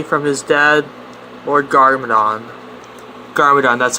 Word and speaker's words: Garmadon: defend ninjago city from his dead or gargamadon garmadon that's how you say it when the film